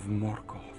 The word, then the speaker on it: Morgoth: Everyone, rolls their R's and stuff when they pronounce these names in the books. A Balrog of Morgoth. But I'm just going to kind of say him as written so I don't sound